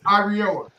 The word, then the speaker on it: Iriola: So Yeah, you can't say his last name's hard to pronounce. it's Iriola.